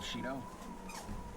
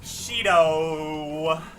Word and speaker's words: Shido: What are your thoughts, Representative Shido? Oh, now we got his actual pronunciation.